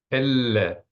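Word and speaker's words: אֵלֶּה: Elle, accent on the first vowel.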